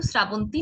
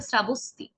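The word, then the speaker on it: শ্রাবস্তী: এটা কিন্তু শ্রাবন্তী নয়। হ্যাঁ, আমরা অনেকে এটাকে শ্রাবন্তী বলি, এটা হবে শ্রাবস্তি।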